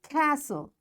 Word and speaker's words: castle: Castle, often, whistle, soften, hasten, bustle, and gormy. In all these words, letter T is silent.